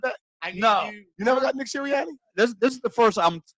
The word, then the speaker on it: Sirianni: It's Sirianni.